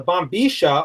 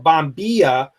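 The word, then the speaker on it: bombilla: types of bombas the bomb bisha or bomia as is pronounced in any other country outside of Argentina in Argentina they pronounce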